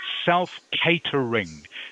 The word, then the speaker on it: self-catering: I know the word looks like cat but it's actually in this word it is pronounced Kate.